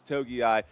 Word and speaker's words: Togiai: Togiai, I think that's how it's said. It's Togiai.